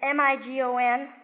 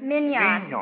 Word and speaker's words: Mignon: From, I can spell it, but I never can pronounce it. It's M-I-G-O-N, something like that. Migon or Mina. Mignon. Mignon.